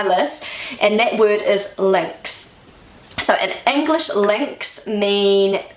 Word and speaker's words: links: So just say a chain, it has a lot of little links to form a chain. So they're all connected together. In German, the word links is pronounced Links. links, and it means left.